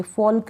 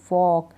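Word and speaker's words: folk: half पढ़ेंगे यक पढ़ेंगे फॉल्क नहीं फॉक टक नहीं टॉक वाल्क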